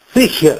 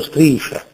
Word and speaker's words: striscia: non si dice la coscia la sista fascista striscia non striscia si sente ormai da tempo Specialmente in un